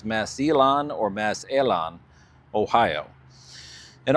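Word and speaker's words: Massillon: a couple of viewers chimed in with a pronunciation for me for is Mass E or Massan, Ohio. Uh, I thought it was Massilon, but apparently it's Masilon or Mass Alon, Ohio, and also White Bear Lake, Minnesota.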